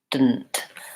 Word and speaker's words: didn't: or yeah didn't so when I say the word didn't I say did didn't really there's basically no vowel in that second part again it's a syllabic and there where that the N consonant functions as the whole